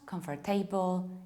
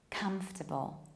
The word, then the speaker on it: comfortable: It's not comfortable, it's not comfortable, it's not comfortable. No, it's just comfortable. Both in British accent, comfortable, and in American one, comfortable.